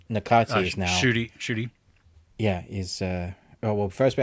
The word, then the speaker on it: Ncuti: So, Shooty, as Shooty. in NCUTI. yes, All right.